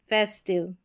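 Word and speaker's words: festive: यहां पर passive, फेस्टिव, सेंसिटिव, डाइजेस्टिव, डिफेक्टिव। यहां पर सभी में आई वी ई है। तो यहां पर आई वी ई में आई का उच्चारण इ करके होगा ना कि आई।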